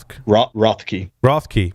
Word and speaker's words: Rothke: How do you pronounce Ben's last name? Rothke.